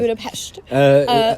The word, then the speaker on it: Budapest: spending some time in Budapest. Am I saying it right? Yes. Okay, yes. Budapest. Hungarian language is one of the most difficult, and one thing, when there is an S, a regular S, it's pronounced sh, and if it's supposed to be S, then it's SZ.